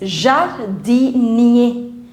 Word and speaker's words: jardinier: Now all the words which end with ER, all the words which end with ER, you pronounce this ER as A. So it's jardinier.